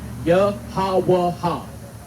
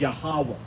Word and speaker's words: Yahweh: So, and you read it right to left. Yahweh. But the way it conjugates at the end is Yahweh. That's how you say it.